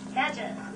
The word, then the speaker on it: nadgers: Nadgers. Rhymes with badgers.